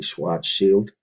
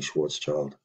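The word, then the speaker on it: Schwarzschild: channel has point out I should be saying Schwartz Shield um that's a more correct pronunciation for the German name I agree with that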